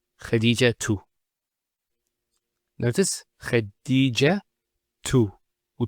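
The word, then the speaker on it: خديجة: I actually pronounced the ta marbuta as a ha. Medina, Khadija.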